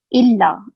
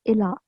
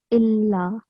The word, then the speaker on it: إلا: L296, you said ila. So on lam, we have tashteed, right? We have the sign Yes. of shadda. So we have to stress illa.